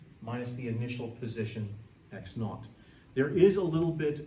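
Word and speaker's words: x₀: This is pronounced x naught.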